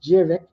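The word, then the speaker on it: Djurdjević: you ever see that yeah it's pronounced jic cover that's a one shot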